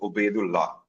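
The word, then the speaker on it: Obeidullah: I don't know what is how can we pronounce it and what does it mean? So uh my entire name is actually Oedu law.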